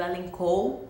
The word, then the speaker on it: Elenco: Bom, a gente faz uma pronúncia diferente, foi a ideia de meu marido, elencou, né? Porque meu nome escreve dessa forma simples mesmo, sem H, sem dois L's, E-L-E-N, e o C-O, né?